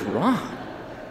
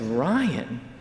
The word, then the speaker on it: Ryan: a beautiful name wrong i go who is ron it's ryan so she had this